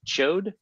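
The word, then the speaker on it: Ch'od: saying this incorrectly but I believe it's pronounced chode the the yeah where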